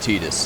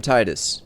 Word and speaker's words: Tidus: In the in in the second day on Destiny Islands in Kingdom Hearts, Waka correctly pronounces uh Tetus's name. Um he says, "Me and Tetus are going to go do some exploring today."